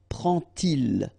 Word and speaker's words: prend-il: And so this little D here is in red just to show you that you won't pronounce it like D to make the liaison, but you will pronounce it like T.